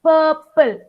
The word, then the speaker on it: purple: R is silent. Purple. Say Purple.